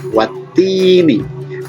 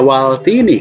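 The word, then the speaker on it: وَالتِّينِ: Nah, contohnya watini, tidak dibaca waltini kan? Sebab di sini ada tasydid.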